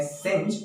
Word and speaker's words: singe: इसका प्रोनाउंसिएशन है सिंज, जो कि एक वर्ब है, और इसका हिंदी होता है झुलसाना।